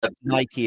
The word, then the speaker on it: Nike: And so I believe Nike is the correct pronunciation. Have a bit of a European heritage in that sense. Yeah, but I think Nike is the correct pronunciation, right?